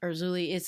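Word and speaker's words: Erzulie: Urzuli. I think it's a Creole, a French Urzuli.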